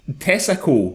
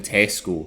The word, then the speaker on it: Tesco: But Nicole said the hilarity started because Shawny mispronounces the name of the supermarket giant saying "Tessaco" rather than Tesco.